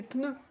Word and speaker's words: pneu: Il y a pas il y a pas de e entre le p et le n c'est pneu.